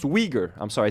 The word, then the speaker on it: Uyghur: It says it's pronounced Uyghur. I'm sorry I say I called them Uyghurs like Cenk Uygur, folks. Uyghurs.